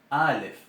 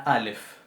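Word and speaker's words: א: Bien, recordemos la Aleph. La Aleph no es un sonido de letra A, no es una vocal. La Aleph representa una oclusión glotal.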